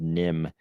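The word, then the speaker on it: NIMH: for me that should be pronounced Secret of Neve or Niv, something like that. But it's in the I had to check because I was pretty sure I remembered them pronouncing it Secret of Nim.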